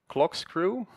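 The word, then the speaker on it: CLKSCREW: Another recent example is that of clock screw. That's spelled CLK and then just screw like in corkscrew.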